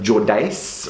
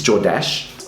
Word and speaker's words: Jordache: name all the time he'd call it jordace or jodace it's jordash oh this is kind